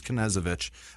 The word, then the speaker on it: Knezevich: I think he said you pronounced the K. I think you're supposed to, so it's Knezevich.